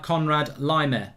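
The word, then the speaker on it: Konrad Laimer: that we're looking at from a german native speaker you can pronounce him like conrad lymer says mark that says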